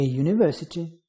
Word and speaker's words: university: A university, where U pronounced as Y, which is consonant.